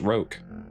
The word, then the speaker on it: roque: Come out, you little It's pronounced roque.